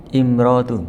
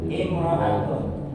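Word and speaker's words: امرأة: Ini apa bacanya? Imrotun. Imro'atun.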